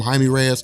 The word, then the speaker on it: Jaime: Now, I call him Jamie Reyes. Some people like Joel call him Jaime Reyes. I think it really just kind of depends. I'm used to pronouncing it Jamie Reyes. I mean, that's I don't know why it would be pronounced a different way.